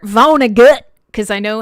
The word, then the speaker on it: Vonnegut: guys are talking about about vona vonnegu or should i say kurt vonnegut because i know how